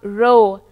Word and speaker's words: rho: It is a Greek letter jisko hum rho pronounce karte hain.